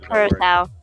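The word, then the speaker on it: Curaçao: Curacao. Curacao. I can't remember Nope. how it's pronounced. Not cure, just curacao.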